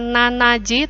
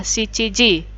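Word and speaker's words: 七時: Kemudian jam 7 itu bukan nanaji, tapi yang dipakai adalah shichiji.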